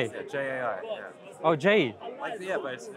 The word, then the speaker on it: Jai: Jai. Jai. Yeah, J-A-I, yeah. Oh, Jai. Yeah, but it's pronounced Jai.